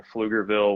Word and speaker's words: Pflugerville: but i live in flugerville which is just north of austin uh so and pflugerville you know well strangely enough is spelled with a p um so it's pf um always funny yeah